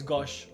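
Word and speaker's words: Gauche: name of that guy i think it's gosh like in french okay gosh gosh they're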